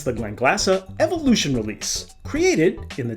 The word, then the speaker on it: Glenglassaugh: Spacey whiskey but the Glen glassa folks and yes my American and non-scottish accented friends it's pronounced Glen glassa they refer to themselves